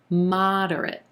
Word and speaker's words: moderate: moderate moderate three syllables here emphasis on the first syllable and the ah as in olive moderate moderate again that second and third syllable are going to be a lot quicker in contrast directorate moderate we're going to get an unstressed er in that second syllable and then the last syllable just sounds like the word it really quickly duret moderate moderate she's